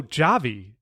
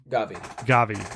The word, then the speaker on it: Gavi: Oh, Javi, Gavi. How do you say Gavi? The Barcelona midfielder. Gavi.